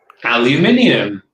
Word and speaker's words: aluminium: american people get wrong aluminium that's how it's said and there's no americans